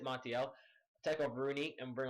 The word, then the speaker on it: Martial: And guys, here in the 35th minute mark, I decided to make a tactical sub, just to test out Martial, sorry, that's how you pronounce it, Martial.